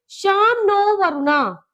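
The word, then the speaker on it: शं नो वरुणः: इसे प्रोनाउंसिएशन कैसी है इसकी? शाम नो वरुणा। इसकी प्रोनाउंसिएशन है शाम नो वरुणा।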